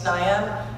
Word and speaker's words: Tenaya: My name's Tenaya. It rhymes with papaya, the fruit.